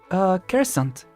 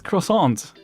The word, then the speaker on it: croissant: Croissant. Oh. No, my little friend. It's croissant.